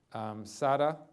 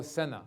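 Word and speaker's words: Sena: And then Sada, did I pronounce that right? Sada? S-E-N-A. Oh, Senna.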